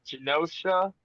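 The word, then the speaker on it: Genosha: video the other day um the whole uh josha is that how you pronounce it yes yeah josha okay um and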